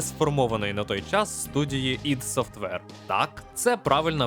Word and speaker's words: id Software: ще навіть не сформованої на той час студії ID Software Так це правильна вимова назви компанії Ми ще не раз повернемося